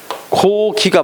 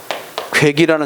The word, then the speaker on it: 고기: 이인데 이거는 발음할 때 어떻게 발음해야 돼? 고기가 맞는 말이야. 알겠지? 근데 자꾸 이것을 뭐라고 하는 사람이 있다? 괴기라는 사람이 있다. 알겠지? 그것은 인정하지 않는다.